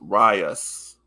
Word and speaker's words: Rice: So this Rice is pronounced Rias.